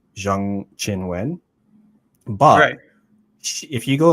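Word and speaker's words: Zheng Qinwen: problem where so like her name is actually pronounced more like Jang Chin Wen but if you go like on the WT website she just says her name is Chinwin Jiang.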